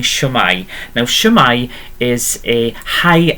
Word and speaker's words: shwmae: So you've already heard me saying shwmae.